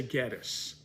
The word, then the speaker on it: Gettys: new from that family how do you pronounce your name and they always say Gettys so it's founded by James Gettys the family is the Gettys family so obviously the proper